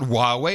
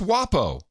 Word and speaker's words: Huawei: It's not Huawei, it's WAPO.